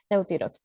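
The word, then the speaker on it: Euthyrox: Eutirox se llama en otras partes fuera de Venezuela en Venezuela era también TH, se escribe EUTH YROX, ¿no? Eutirox, pero es la misma.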